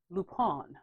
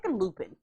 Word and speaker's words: Lupin: him uh no it's the show is actually pronounced lupone is that correct see i hate they gotta be extra just it's looping he gotta do all this extra i just